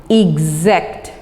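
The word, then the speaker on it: exact: नेक्स्ट है एग्जैक्ट। क्या मैंने प्रोनाउंस किया, गौर से सुनिए, एग्जैक्ट। यस, तो आप इसको EGS वाले कॉलम में लिख देंगे क्योंकि इसकी साउंड ग की निकल रही है।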